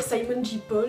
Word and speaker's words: Simon J. Paul: Je suis en train de le prononcer à l'anglaise alors que c'est un français. De Simon J. Paul. J'aime bien dire Simon J. Paul, je trouve que c'est bien lié.